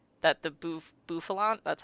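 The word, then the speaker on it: Bouffalant: I also remember that this was the like that the bof buffalant, that's how you say it, was like the um North American exclusive Pokemon on Pokemon Go.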